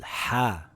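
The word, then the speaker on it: ح: It isn't like the letter H in English. Here are some examples of what it sounds like. If you hold a mirror or your glasses and you go you will see the glass go foggy. This is the sound you want. Or when you take a big sip out of your juice on a hot summer day and when you are done you say that's the sound you need. Ha.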